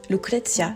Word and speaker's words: Lucrezia: Ouais, ça se prononce avec l'accent, mets-toi dans le personnage. Lucrezia, c'est destiné aux bâtards de l'entrepreneuriat en ligne.